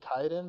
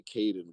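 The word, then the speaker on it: Kaidan: Jacob says that Karth would body Kaiden, but like if he's got the wizard stuff, then like no. Like How many times did you hear us say Caden before you went and mispronounced it just now?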